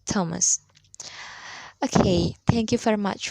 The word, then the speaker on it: Thomas: Note, th is usually pronounced th or d, but sometimes t. Thailand, Thames, Thomas.